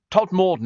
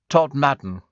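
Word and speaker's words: Todmorden: Apparently, says Danny, Steve, Todd Morden is pronounced Todd Madden.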